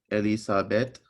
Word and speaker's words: Elisabeth: so here we have elisabeth because it's a name so we pronounce it like a b ethyl up there's no vowel after it so it's a b evol after is a